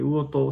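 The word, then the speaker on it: 魚豊: たです魚人先生魚にトよって書いて魚と先生って読むんですけどはっきり言っ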